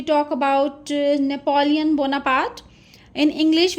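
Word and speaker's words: Napoléon: So next we talk about नेपोलियन Bonaparte in English we used to से इट नेपोलियन बट in French it इज़ नेपोलियो। नेपोलियो नेज़लाइज़्ड sound होगी बट N silent होगा। इट इज़ नॉट नेपोलियन।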